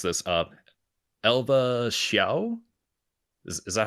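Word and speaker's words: Elva Hsiao: correct me on this uh Lily if I mispronounce this uh Elva xia is that how you say it Elva Elva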